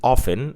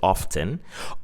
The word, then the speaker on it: often: A word like often, in American English or even in British English, they pronounce it often, but in some British regions, they pronounce it often.